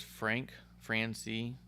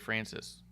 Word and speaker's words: Francis: Bishop says Frank C. he refers to as Fran C. That doesn't make sense. His name's AJ Francis.